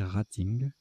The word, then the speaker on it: rating: un indice de classement je prononcerai et ingall anglaise mais apparemment il faut prononcer rating à hémolyse la destruction